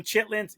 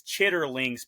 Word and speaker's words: chitterlings: trying to find some chitlings it is chitterlings people I learned that